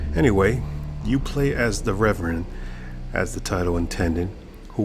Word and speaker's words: Reverend: Hello and welcome to Revenant. I'm sorry, it's pronounced Reverend.